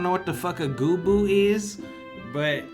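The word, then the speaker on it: Goobbue: Well, you're saying it wrong. It's not Gubu, it's Gubu. Listen, okay, I understand that in Final Fantasy XIV, the way the voice actors pronounce it is Gubu. Okay, but look how you spell it, alright? Sound that shit out. Hold on. As someone who spent a decade of their life playing Final Fantasy XI, it is and always will be Goobu in my brain, alright?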